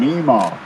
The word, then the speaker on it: Emmaus: I was born in Emmaus. Actually, I was born in Emaw.